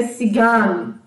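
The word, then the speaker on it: Zigeuner: Z de Zigan, né, que se escreve Zigner, né, mas a pronúncia é Zigan.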